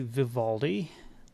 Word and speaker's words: Vivaldi: a little bit all righty okay uh the pronunciation for this is actually Vivaldi um this is Vivaldi is uh one of